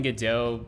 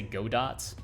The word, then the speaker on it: Godot: like i've been saying godot pretty commonly so godot is french so you you should not say godots it's a like a